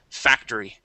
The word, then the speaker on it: factory: here is Factory um let's get that that Y sound at the end so factory factory very very good okay excellent